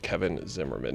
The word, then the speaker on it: Zimmerman: Your name is pronounced Zimmerman, by the way.